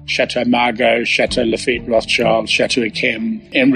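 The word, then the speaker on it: Margaux: you end up with a camp ikem and Margot correctly pronounced I spelled m-a-r-g-a-u-x on the list was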